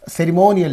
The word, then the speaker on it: ceremonial: And similarly ceremonial is there. So mo is the preceding syllable preceding the suffix. IAL is there. Okay. So this receives that. Ceremonial.